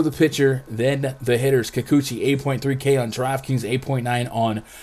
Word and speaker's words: Kikuchi: mariners at the athletics you say kikuchi i say kakuchi because that's how you pronounce it up against frankie mantis